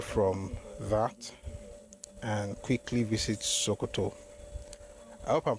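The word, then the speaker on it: Sokoto: Anyway, let's move away from that and quickly visit Sooto. I hope I'm pronouncing it correctly. Some people told me I've not been pronouncing it correctly. Supposed to be SK, not Shokoto.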